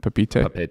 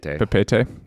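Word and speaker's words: Papeete: Is that how you say it? Papite? Papete. Yeah, not even close.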